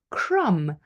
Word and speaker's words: crumb: So B is not pronounced when following M at the end of a word. For example, climb, to climb the stairs, to climb a mountain. Or crumb, the crumb from my